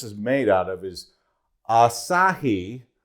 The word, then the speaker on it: Asahi: notes on here because I didn't want to mispronounce it so the plastic that this is made out of is Asahi spelled a-s-a-h-i and the actual plastic is a